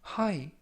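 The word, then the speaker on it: high: 가지고 있다라는 뜻이 되겠습니다 이번 표현은 하이 하이 하이라고 발음하시면 되겠고요 이때 유의하 실점은 끝부분에 있는 gh 무음이라 발음이 되지 않습니다 품사는 형용사 뜻은 정도나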